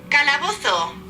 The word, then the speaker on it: calabozo: Calabozo. Calabozo. Calabozo. But that's the Spanish pronunciation, and what I love